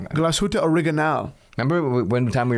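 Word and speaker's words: Glashütte: And we're sitting in a taxi and I'm saying Glasshuta.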